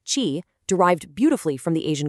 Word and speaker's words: Qi: The answer is the Qi standard, pronounced Qi, derived beautifully from the Asian concept of vital life energy.